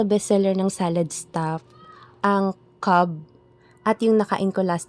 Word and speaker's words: Cobb: Tinanong ko mismo yung staff kung ano ba yung tamang pronunciation sa flavor nila na C-O-B-B. Cobb ba or Cobb? So, ang sabi niya, Cobb. So, sundin natin. Cobb pala yun, hindi Cobb.